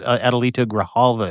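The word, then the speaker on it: Adelita Grijalva: And it's Graalva. Yes, absolutely. I I apologize. Adalita Graalva is how you say her name.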